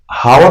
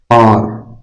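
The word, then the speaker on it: hour: इसको हावर नहीं बोलते हैं। हां वर नहीं बोलते हैं। इसको बोलते हैं और और इसको बोलते हैं और मतलब ये एच साइलेंट होता है।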